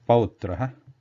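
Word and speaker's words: पौत्रः: The Sanskrit word example here is pautraha, pau, that ow sound, then pautraha, and English equivalent sound something like noun, noun, that ow after noun.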